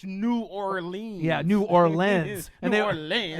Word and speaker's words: New Orleans: Nolans? They used to Right. be like, don't say it. It's New Orleans.